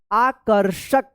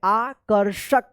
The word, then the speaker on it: आकर्षक: और आकर्षक देखिए यहां पे आकर्षक आकर्षक। यहां पे रे रेफ की मात्रा है तो क के बाद आधा र उच्चारण होगा और आकर्षक में देखिए यहां पे मूर्धन्य श लगा है।